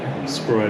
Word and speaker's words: Scroy: Scroy, did I pronounce that right? Yay! Yes!